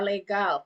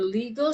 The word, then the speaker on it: legal: Kemudian bahasa Inggris juga tulisannya sama, Legal, tapi pronounce-nya not legal system, okay. Kalau nanti kalau bicara dengan orang orang asing yang bukan bahasa Indonesia, nanti dia nggak paham. Oke, legal itu apa dalam bahasa Inggris? Nggak ada kata legal gitu. Nah, jadi pronunciation-nya itu legal.